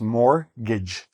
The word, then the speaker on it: mortgage: Notice we don't pronounce the "t", just mortgage.